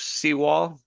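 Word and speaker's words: Sewal: Uh, just like it looks. Seaw wall. S E W A L. Seaw wall.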